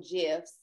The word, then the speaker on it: GIF: I saw on Twitter that you got your own GIFs. I pronounce it with a hard G, but apparently you pronounce it with a J.